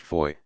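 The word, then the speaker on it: Fowey: the rashley family sale of the burrow although pronounced Foy the name of the place is spelled thi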